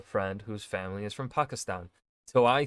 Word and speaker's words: Pakistan: Where the Americans would say it like Pakistan, right? Whereas if I'm remembering how my friend would say it, right? I haven't hung out with him in a long time, but his way of pronouncing it would be like Pakistan, which I think is the more accurate way of saying it, right? And not the long A that Americans like to use, Pakistan.